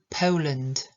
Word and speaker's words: Poland: to a to o Ja wiem że w Polsce jest O i to w pełnym też jest o ale wymawiamy to jako eu Poland Poland bo gdyby mówimy